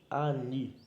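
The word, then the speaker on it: אני: aqui é uma das mais conhecidas e é pronunciado ani ani você tem algumas opções você pode considerar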